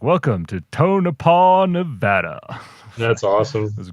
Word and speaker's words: Tonopah: And so whoever was doing the announcing on the radio was like, welcome to Tonopah, Nevada.